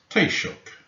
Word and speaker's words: Taoiseach: How is it pronounced? Taoiseach.